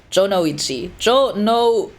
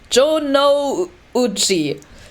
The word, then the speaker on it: Jonouchi: Like, I know how to pronounce it in Japanese, like Jonouchi, right?